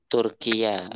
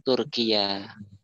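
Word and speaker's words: تركيا: Turkiya. Fil Arabiyah, Turkiya. Ya. Turkiya. Laisa Turki, walakin Turkiya. Turkiye. Turkiya. Bila al-Arabu yakuluna Turkiya. Laisa Turki. Ya. Kurang kalau Turki, nanti kurang. Yang Turki bahasa Arabnya Turkiya.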